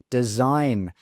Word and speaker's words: design: Next one design okay. That G is silent in design.